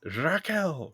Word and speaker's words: Raquel: Oh, this is where we get the It's Raquel. Roll those Rs.